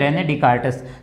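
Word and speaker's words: René Descartes: ठीक है, इसको पढ़ेंगे डिकार्टिस, ये ऐसे वो साइलेंट रहेगा, ये भी एक आर्ट होता है, ये जो आप धीरे धीरे प्रैक्टिस में आएगा। ठीक है, इसको बोलते हैं रेने डिकार्टस।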